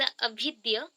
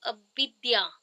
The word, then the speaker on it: अविद्या: First है that is अभिद्य, अभिद्य, और आप बोल सकते हो अविद्या, अविद्या। इसको जब इंग्लिश में रहेगा ना थोड़ा सा रॉन्ग होता ही है प्रोनाउंसिएशन में, तो अविद्या,